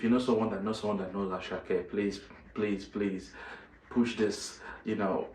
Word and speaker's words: Asake: People call him Asake, but you know, Yoruba wise, the name is pronounced as Asake.